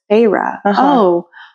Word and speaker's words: Feyre: And then you hear it and you're like, oh, it's Feyre.